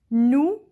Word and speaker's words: nous: Nous means we. S is silent.